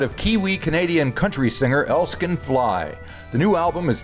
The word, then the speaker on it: Elskan: Now, you you uh record under the name Elskin Fly. Am I pronouncing that correctly?